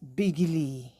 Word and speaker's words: Bigil: But it's pronounced Bigili, you know. Um, but the spelling is Bigil, like Bigil.